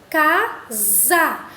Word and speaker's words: casa: nos traz tá bom casa observe que esses a ele tem um som do z a e não do hsa vamos agora para a